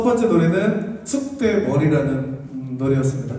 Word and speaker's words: 쑥대머리: 노래는 숙대머리 하지만 띄어쓰기는 숙대머리로 발음을 하셔야 돼요.